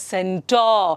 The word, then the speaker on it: centaur: So though the R is there, you have to pronounce it as centaur. Centaur, centaur alla centaur.